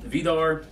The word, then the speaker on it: Víðarr: head so anyways um vidar um we're using a uh re medieval uh pronunciation of the gods names so vidar is an old norse name you'll see it up